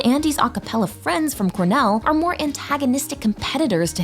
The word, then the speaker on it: Cornell: It's pronounced Cornell.